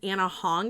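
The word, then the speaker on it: Ana Huang: uh named I think it's Anna Hong is how you say it.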